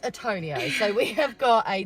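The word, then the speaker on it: Tourneo: fact the reason I was calling it a tornio is because it's spelled t-o-u-r so that is tall and then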